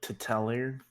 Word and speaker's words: T'Telir: was pronouncing this as titelier that that's my honest shot at it paul you want to correct him yeah you're really close it's like to tell her okay tell her similarly